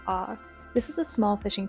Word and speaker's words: Å: After the visitor center, we took a short drive to the small town of Å, and yes, it is pronounced Å.